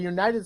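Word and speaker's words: UKited: United States veterans the United States veterans but they're called UK kited XP it's United United X it's a silent silent k like a night Shining Armor never heard of it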